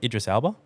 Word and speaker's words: Idris Elba: Idris Elba. Is that how you pronounce his Yeah, name?